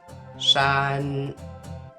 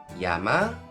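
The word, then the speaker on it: 山: it's pronounced in Mandarin Shan Shan and in Japanese Yama for Konami Yama and son for only me son be careful that the Mandarin pronunciation is different from the Japanese one it's all about the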